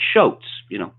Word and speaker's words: Shotes: And later, we meet another hoaxster preacher, a man called Shotes, rhymes with Motes, who claims to have been on the radio for many years.